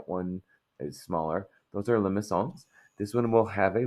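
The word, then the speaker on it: limaçon: talked about these being limones um it's very fancy right it's French so um the this is a li and there's a soft C that's why there's CA under the C so a Limon is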